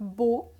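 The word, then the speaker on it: bough: B-O-U-G-H is not bow. It is pronounced as bow.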